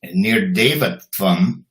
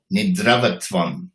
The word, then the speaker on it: Nirdevatvam: And he mispronounced that one too, and he said Nidravatvam, the state of being asleep.